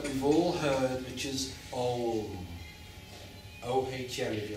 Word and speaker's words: Om: Try and pronounce that Om at the beginning. It's really important. Bring the lips together and just linger as long as you can.